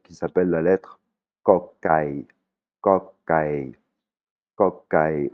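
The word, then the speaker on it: ก ไก่: Kokai. Kokai. Ouais, c'est ni un "k" ni un "g", c'est une prononciation qui est très subtile. C'est entre le "k" et le "g", hein.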